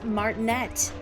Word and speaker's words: Martinet: Um, I've always heard people say his name is Martinea, but When I played some years ago, uh, Bit Trip Runner 2, he's the narrator in that game, and he says, "I'm Charles Martinette."